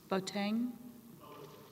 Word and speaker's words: Boateng: can correctly pronounce his name botan okay thank you mr bogan may please the